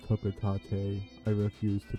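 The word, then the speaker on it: Hocotate: I know it's pronounced Hokotate.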